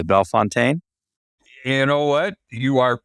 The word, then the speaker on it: Bellefontaine: way, but it's pronounced Bellefontaine. Which, I guess it's Americanized is what it is.